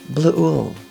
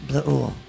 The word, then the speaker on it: Bleuel: It's a little difficult for German kind of blue ooh. Amy blue ooh.